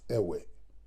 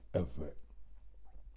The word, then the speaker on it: Ever: This is the name that is now being pronounced as Ewe, which is the incorrect pronunciation of Ever.